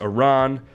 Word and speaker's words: Iran: United States states beat Iran um it is pronounced Iran uh not a Iranian reporter uh very uh